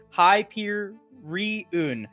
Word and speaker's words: Hyperion: to it but I've been told what the pronunciation is high peer reun Hyperion I got you I'll do it I